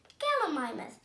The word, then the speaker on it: Gallimimus: I'm going to tell you how to pronounce it. Gal-e-mi-mus. Gallimimus.